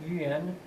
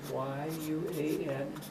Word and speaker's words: Yuan: China take the name of U.N Dynasty that starts with a y the spelling is y-u-a-n Yuan Dynasty that's the time